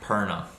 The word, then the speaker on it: Perna: last name real quick it is zack perna all right zach perna